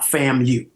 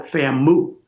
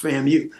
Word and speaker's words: FAMU: from FAMU and and a lot of them would call it famm they didn't know how to pronounce FAMU yeah all of a